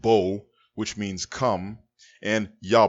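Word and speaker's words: בוא: from the verbal root ba wa in ah pronounced bo which means come and ya bo means he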